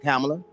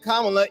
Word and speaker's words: Kamala: I thought it was Kamala. He said it wrong. Yeah, one lady told me how to pronounce it was like comma with a la.